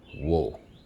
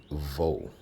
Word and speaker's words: Waw: And it would be pronounced wo, not vo.